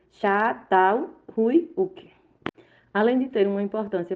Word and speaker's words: Çatalhöyük: Outra cidade formada é Çatalhöyük ou Çatalhöyük. Pronuncia-se Çatalhöyük.